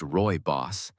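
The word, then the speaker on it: rooibos: Originating from South Africa, Royos, pronounced Roy Boss, is naturally caffeine-free and rich in unique antioxidants that are not commonly found in other teas.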